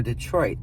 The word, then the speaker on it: Detroit: So the original and correct pronunciation for Detroit is Detroit, where the R is silent.